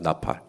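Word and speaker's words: נָפַל: 이 항복이라는 말이 히브리어로 나팔입니다. 나팔. 우리가 나팔 본다 할 때 그 나팔하고 똑같은 발음입니다.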